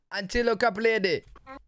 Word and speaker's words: Antilocapridae: Antilocapridae.